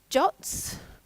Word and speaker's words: JWT: Most programming language libraries will have some kind of JWT, or I hear they're supposed to be pronounced as JOTs.